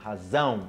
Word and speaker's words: razão: Zão, razão.